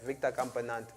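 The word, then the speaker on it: Victor Campenaerts: Yeah, these names with the, yeah, I said it right, Victor Campenat.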